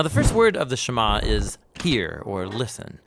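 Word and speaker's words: שמע: Now, the first word of the Shema is hear or listen, which in Hebrew is pronounced Shema.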